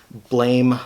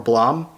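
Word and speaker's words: Blame!: from tsutomo nihei um i believe it's actually supposed to be pronounced blam or blom um but obviously in english it looks like blame so i'm just gonna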